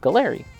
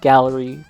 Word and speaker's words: Gaahleri: The Galley World Creator Cup from Galley. Actually, I've I always say Galley. I believe they're pronounced Gallery. Correct me if I'm wrong, but anyways, look at this.